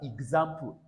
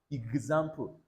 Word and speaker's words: example: This X here does not sound it sounds G. All right. So this word is pronounced as example. Not example.